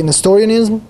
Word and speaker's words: Nestorianism: Okay, Nestorianism.